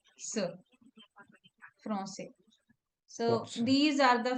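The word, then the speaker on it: Français: If we have the word if we say Francais without the accent, then it will be okay. Which language is spoken in France? Franque. The Okay. Yeah. citizen or the nationality is Franque. So it sounds very different. It doesn't sound nice.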